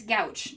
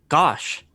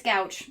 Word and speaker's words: Gouch: It's Gouch. That's how you pronounce it. Gosh. No, it's Gouch. That is how you pronounce it. Like, that's how his entire family says it.